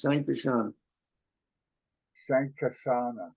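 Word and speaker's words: Sankarshana: cannot describe his glory that's sankaran sashan is pronounced San shank kashana who is Transcendental pure goodness is partial expansion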